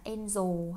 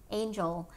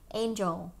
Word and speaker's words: angel: từ angel thôi nha, đừng đọc là angel hay là something else. So angel, angel, angel, nhớ âm j mạnh lên, dày dặn lên, angel, angel.